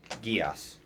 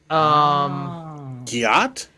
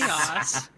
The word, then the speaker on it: Geass: This is the enchantment spell, and it's people pronounce it differently. Gias. Got it. Giat? Yes. Like Code Yes. Geass. Yes, Code Yes.